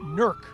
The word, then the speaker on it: Newark: so many Italians settled initially in NK or as they would pronounce it nerk and then you at